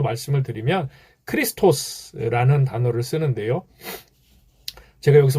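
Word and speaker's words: Χριστός: 크리스토스, 예수스, 크리스토스, 이게 이제 원래 성경에 그 원어 성경에 나오는 발음입니다.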